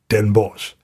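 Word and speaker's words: Den Bosch: to a town with one of the most difficult to pronounce names for the non-native Dutch speaker saratok and Bosch it's not for no reason that everybody just calls it Den BOS there he entered a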